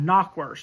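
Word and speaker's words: knackwurst: of broughtwurst sausage, and something called knock, which you think is spelled K N O C K, but it's actually K N A C K W U R S T.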